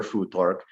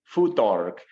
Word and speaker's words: Futhark: a hypothetical language, Proto-Germanic follows the more Germanic pronunciation of the TH, which is halfway between a T and a D, which is why the Germans don't call him Thor, they call him Thor.